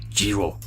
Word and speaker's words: Giraud: it says Benjamin keyword I looked at the pronunciation of this it's French and it's pronounced Jiro something like that anyways